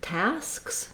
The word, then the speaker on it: tasks: Then the word tasks, same thing. I would just build it from tas, task, tasks. Now that's not necessarily simple, but I believe that strategy of adding on one consonant at a time at the end can be helpful for you.